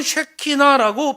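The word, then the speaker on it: שכינה: 하나님의 거하심을 말하는 거예요 히브리어로는 새끼나라고 발음해요 헬라어로는 스캐너로 발음해요 그런데이 스케노오라는 헬라어는 그분이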